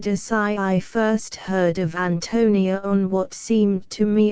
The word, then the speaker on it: Ántonia: note the Bohemian name Antonia is strong ly accented on the first syllable like the English name Anthony and the I is